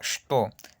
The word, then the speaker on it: что: Vemos esta palabra, la palabra что. Se escribe che-te-o, pero no se pronuncia.